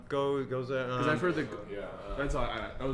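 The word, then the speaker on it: Gose: I learned something new about Kolsch and Ghost, and mostly that they aren't the same thing, and how Ghost is actually pronounced. Ghost. Ghost. G-O-S-E. Oh, right. Goza.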